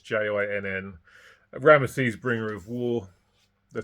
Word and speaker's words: Jinn: And the Howling of the Jinn, I'm not sure if that's the correct pronunciation, it's Jinn.